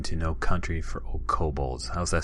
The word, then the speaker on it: kobolds: Yeah, I say kobolds. Okay. I know there are people that pronounce it 100 different ways, but yeah, it's always kobolds for me.